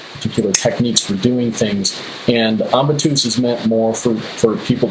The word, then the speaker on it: ambitus: I want to know a bit about this Ambitus project. And how do you say it? Ambitus, what is the right pronunciation? Yes, it's a Latin word, ambitus for compass.